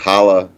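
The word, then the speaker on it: challah: like hala which is this is a guttural sound it's hard to pronounce but if you could do it it would be i guess ch would be the sound you have to make it's like having fun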